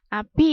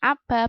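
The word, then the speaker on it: الأبِ: Nah, abi ya bacanya ya. Bukan aba, bukan abu, tapi abi.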